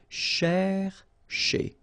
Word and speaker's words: chercher: chez, all right, so chercher, chercher, okay, and the difficulty normally is, well, also in the repetition of sh, okay, chercher, chercher.